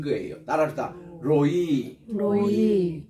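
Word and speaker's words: רֹעִי: 긴이가 긴 거예요 따라다 로이 로이 그 액센트가 뒤에 있습니다 로이 교회가 아니라 로이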